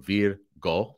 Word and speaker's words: Virgo: That's easy enough, but if you have problems with Latin language pronunciation, it's got it written in English, V-E-E-R-G-O, so Virgo, that would be how we pronounce things like that in Latin, Maria.